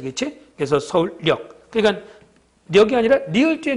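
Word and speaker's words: 서울역: 서울력. 이거는 표준 발음법 29항이니까 니은음이 더 붙여져서 니은이 첨가됐지. 그렇지? 그래서 서울력.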